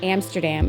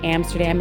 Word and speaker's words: Amsterdam: The same with Amsterdam. It's not Amsterdam, it's Amsterdam.